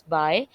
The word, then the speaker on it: bi: Okay, BI is known as, or we, it is pronounced as by, we call it once in every two or twice, ये तीन meanings इसके आते हैं।